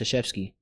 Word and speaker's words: Krzyzewski: His last name is pronounced Krzyzewski. But it doesn't start with an S. It starts with a K, like KRY, like Z, and a bunch of them, like, and it's pronounced Coach Krzyzewski.